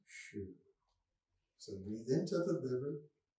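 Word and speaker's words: xu: that's pinyin um and the x in pinyin is pronounced like s h so x u would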